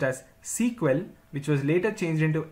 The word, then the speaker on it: SQL: initially the language was known as Structured English query language pronounced as sequel which was later changed into SQL in the year 1978.